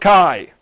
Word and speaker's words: chi: It's pronounced Kai.